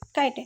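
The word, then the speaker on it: chitin: cell wall जो रहती है वो काइटिन की बनी होती है। ओके, ये इंपॉर्टेंट है, इसे ध्यान रखिएगा कि किसकी बनी होती है, काइटिन की, CHITI, काइटिन, प्रोनाउंसिएशन इसका काइटिन करते हैं।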